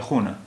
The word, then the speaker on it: خانه: اب دیکھیے اردو میں تو ہم اسے خانہ پڑھتے، لیکن فارسی میں اس کا تلفظ ہوتا ہے خونہ.